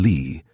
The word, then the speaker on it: Lee: I mean she was an actress and used her stage name Wanita Lee, pronounced like it was spelled plain Lee.